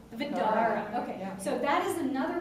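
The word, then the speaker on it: Vdara: I need help for pronouncing this one, but V D A R A. What's it called? Vidara. The Vidara.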